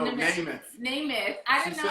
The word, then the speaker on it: Namath: Did you just say math? No, Namath.